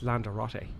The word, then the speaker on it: Lanzarote: Oh, I meant Lanzarote. Okay. They say, we're going to Lanzarote. You know, Lanzarote. That's it. Lanzarote. It's Lanzarote.